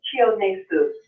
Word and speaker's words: Chionesu: Just break it in syllables. It's Chionesu. Chionexu.